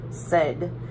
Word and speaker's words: said: is it that word said do we hear I mean it is spelled with the AI but do we hear the long a sound in there we don't say say did we as I said so